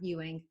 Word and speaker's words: Ewing: all the time but if you've ever watched dallas you know south fork ranch that's how you pronounce it or if you know the famous basketball player patrick ewing that's my last name but before i got